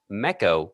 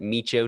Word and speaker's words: Meco: That's meco, which is just echo with an M in front of it. How easy is that? Mechco radio. You can pronounce it meo too if you want.